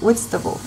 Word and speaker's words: Whitstable: We're currently in the UK, in Whitstable. Is it the right pronunciation?